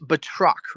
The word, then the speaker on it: Batroc: Now One it is pronounced Batroc, right?